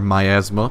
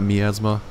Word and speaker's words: miasma: we actually CU I think the miasma or my Asma because I apparently I've been mispronouncing it it's my Asma and not miasma so I don't know if I want to